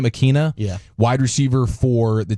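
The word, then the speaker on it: Ikhine: Nick Westbrook-Akine, I think is how you say his name, Akina.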